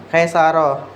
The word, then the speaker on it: Kaisarah: Laili Munazah Maxwell Muhammad Andri Pratama Muhammad Habibi apa ini? Ca atau ka? Cara bacanya Kaisarah.